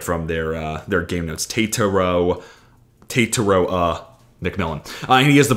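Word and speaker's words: Tetairoa: So Tataro McMillan. That is pulled from the Arizona pronunciation guide. So if it's wrong, don't yell at me. I just pulled it literally right from their game notes. Tataro McMillan.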